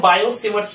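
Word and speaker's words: Biot–Savart: असलम कि के Biot सवर्त लॉ इसमें इसको बायो सेवर्ट लॉगिन नवजात यहां पर उस चैप्टर देखिए मैंने लिखा डाटा यह साइलेंट होता है इसको बोलते बाय उससे वर्ड्स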